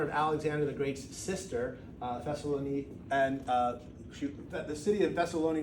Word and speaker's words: Thessaloniki: Thessaloniki is the name they would pronounce it in Greek, and the Thessalonica was the sister of Alexander the Great.